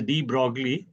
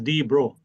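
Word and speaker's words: de Broglie: Normally in India we call him as D Brogley but in French his name is pronounced as D bro.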